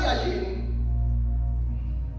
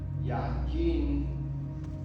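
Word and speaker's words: יין: Miren, por ejemplo, la palabra yajin, así se pronuncia, yajin, ¿sí?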